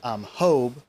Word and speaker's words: Job: So that's Kenneth on the right, and a guy named Hobe, spelled like Job, but it's pronounced Hobe. Because they do the soft J. Spanish.